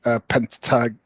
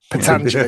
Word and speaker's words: Pentangeli: So De Niro, who won it, and then Michael Gazzo, who played Pentag. He did a much better pronunciation. Pentangeli, that's it.